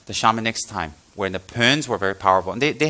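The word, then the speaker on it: Bön: at the time was Pönpo. You don't look at the Pöns at this time. It's spelled B-O-N, but it's pronounced Pön.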